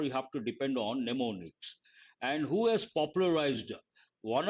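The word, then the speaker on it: mnemonics: word for memory techniques neonics the first m is silent neonics means memory techniques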